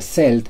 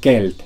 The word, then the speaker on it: Celt: Otro ejemplo sería esta palabra, la cual no se pronuncia celt, sino kelt, con k, ya que proviene del latín.